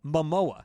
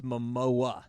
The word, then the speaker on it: Momoa: all jason jason momoa mamoa mamoa mo there you go why did i say it wrong you either say moma or mamoma it's momoa i thought i said